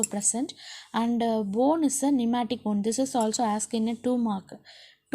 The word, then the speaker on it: pneumatic: P is a silent here. You have to pronounce as a pneumatic bone.